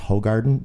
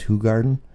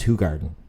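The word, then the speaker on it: Hoegaarden: in buffalo asks for hoe garden because we're americans and we can't be bothered to say it the way that the belgians actually say it which is who garden okay this is only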